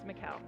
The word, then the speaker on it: Michal: It's Michal. Yes, Michal. All right. You told me when I first met you, like, Michal rhymes with Michelle. That's right. Michal, Michelle. That's it.